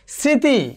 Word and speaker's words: স্মৃতি: যেমন একটু ধরো শ্মশান, এখানে যে মফলা রয়েছে এই মফলার উচ্চারণটি এখানে হয়নি, বাট একটু নাসিক্য রয়েছে। স্মৃতি, খেয়াল করে দেখো।